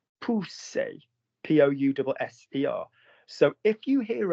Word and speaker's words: pousser: If you have two S's in a word, in the middle of a word, that is pronounced like Danny's snake. Pousser, P-O-U-S-S-E-R.